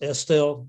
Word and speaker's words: Estelle: and Estelle lived in usually it's pronounced Estelle with a lot of emphasis on the first syllable but anyway they all